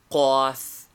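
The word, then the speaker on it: ق: as in english name path equivalent k with a dot under it pronunciation a very guttural k like in thick only much stronger name cath equivalent k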